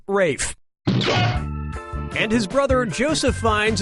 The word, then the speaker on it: Ralph: up yep ray Fiennes first name is spelled like Ralph but pronounced Rafe and his brother Joseph